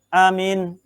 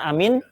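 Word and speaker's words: آمين: Cara membacanya adalah amin. Bil maddi wa takhfifil mim. Pertama, cara membaca. Yang kedua, bil qasri. Amin. Pendek, boleh. Jadi pertama, jadi cara pelafazan atau cara pengucapan amin ada 4 cara, ada 4 lughat.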